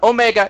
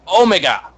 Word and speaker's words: Omega: Gotta say it like the British. It's not Omega, it's Omega.